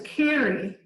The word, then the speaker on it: Carew: And I figured out that Carey is an older Irish pronunciation of Carew, which was why that pronunciation came down through Flat Rock, which was a very Irish community for many years.